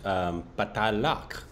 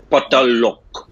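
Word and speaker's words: Paatal Lok: No, I'm smiling because that's exactly how I pronounced it. And every time I did pronounce it that way, Andrani was like, yeah, it's Patalok.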